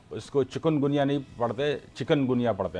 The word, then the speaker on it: चिकनगुनिया: है, लेकिन वो इसको चिकनगुनिया नहीं पढ़ते, चिकनगुनिया पढ़ते हैं। जो स्पेलिंग है वो भी चिकन वाला ये पढ़ते हैं, हालांकि ये इसका जो वो चिकन है, KU आता है, ठीक है।